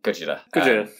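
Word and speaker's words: ゴジラ: yeah and godzilla is it just sounds like gojira there's a few conflicting stories on how the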